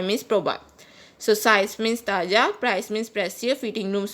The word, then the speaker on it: talla: Size is known as talla in Spanish. Guys, double L is pronounced as J in Spanish, so size means talla.